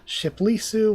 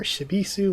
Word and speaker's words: Shibisu: is that and then this can be pronounced as either b or p and then there's a space and then there's e and Sue which is this so that's shipu yeah ship lisu or shibisu or shisu shisu yeah